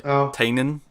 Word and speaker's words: Tynion: Well, I'd probably be more excited for Tinian at this point, although we learned today apparently we're pronouncing Tinian wrong. It's apparently Tynion.